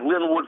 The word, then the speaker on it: Linwood: Linwood, am I pronouncing your name right? Yeah, it's my first name. Okay. Yeah, like Linwood, California. Only thing is L-I-N.